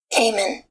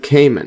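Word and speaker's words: caiman: kimman see this one and there it is Cayman and Cayman yes the crocodiles and cayman's family alligator die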